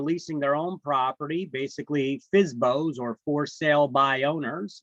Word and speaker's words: FSBO: their own property basically fsbos or for sale by owners we pronounce that fsbo fsbo um that's a for sale